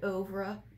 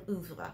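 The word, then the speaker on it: oeuvre: right now i know some people like to pronounce it over but we're doing oovla we're going to be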